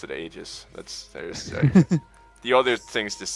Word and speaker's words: Aegis: Aegis, there it is. It's Aegis. Aegis. Aegis, yeah. That sounds like an old woman. To be honest. Oh god. Yeah, Aegis. You got to pronounce it Aegis.